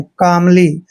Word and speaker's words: calmly: एम से पहले जब भी एल आता है तो एल वहां पर साइलेंट होता है, यानी एल का उच्चारण हमने वहां नहीं करना है।